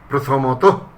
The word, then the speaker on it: প্রথমত: সেসব ক্ষেত্রে সে সকল শব্দের উচ্চারণে সাধারণত ওকারান্ত হয়। যেমন প্রথমত, আগে বিসর্গ দিয়ে লেখা হতো, শেষে একটা বিসর্গ থাকতো, প্রথমত এরকম ছিল। তাহলে আমরা এখন সেইভাবে তো বলবো না, আমরা বলবো প্রথমত, বস্তুত, দ্বিতীয়ত, শতত, প্রণত, প্রায়শ।